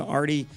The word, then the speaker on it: Ardy: can find me on LinkedIn they spelled my name wrong it's Ariane but first name Artie just type in seekster and happy to connect